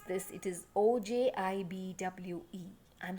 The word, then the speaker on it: Ojibwe: I don't know how you pronounce this. It is Ojibwe. I'm saying it as Ojibwe.